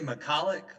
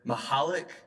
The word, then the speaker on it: McCulloch: Yeah, and so we say Macallick, but Councilmember Scamilleri is right. Mahalik is the culturally appropriate way to pronounce it, so we mispronounce it.